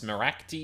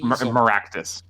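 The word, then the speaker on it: Meraktis: How am I pronouncing this? Maractes? Maractus.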